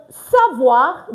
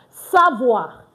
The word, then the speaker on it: savoir: Don't forget we don't pronounce our S. We don't pronounce our T. We don't pronounce our E N T at the end of our verbs in French. So savo the verb to know.